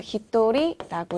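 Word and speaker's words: 一人: 이 세는 단위는요. 예외로 외우셔야 되는 파트인데요. 1명은 일본어로 어떻게 될까요? 그쵸, 히토리라고 읽고요.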